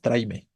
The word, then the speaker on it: tráeme: conversación fluida y natural nadie dice tráeme no decimos tráime y listo y está bien está